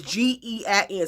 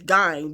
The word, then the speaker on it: Gein: It's E-D, and his last name is G-E-I-N. Some people say his last name is Gein, but I just say Ed Gein. That's how I pronounce the shit.